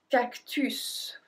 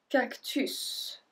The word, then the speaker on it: cactus: Next one, un cactus. And this one is pronounced a bit differently because you're not supposed to say to pronounce the S at the end, but in this case we do. Un cactus.